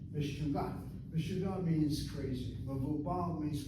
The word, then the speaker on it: meshuggah: Meshuggah is the same word, only we pronounce it the way the Moroccans pronounce it. Meshuggah. Meshuggah.